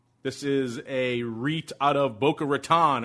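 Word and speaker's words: Boca Raton: is a out of boar ratan or as the locals say boaron they invest in private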